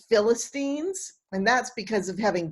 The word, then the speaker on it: Philistines: may trip over in class i may say philistines but it's pronounced philistines and that's because of having bible stories read